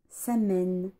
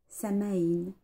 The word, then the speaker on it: Samhain: Il s'agit de Samen, Samaïn, Sowin, Saowin. Il y a plein de prononciations différentes.